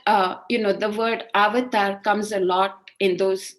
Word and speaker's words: avatar: actually indian and origin it's sanskrit in origin and you have to pronounce it avatar and you know of